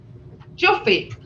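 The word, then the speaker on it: cufe: Juffy.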